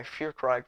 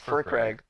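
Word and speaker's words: Firkraag: So during the very first Precon League, I turned my Fearcrag Precon into Miram. That's not how you pronounce that. I think it's Fearcrag. Furcrag. It's Furcrag. I was gonna say something.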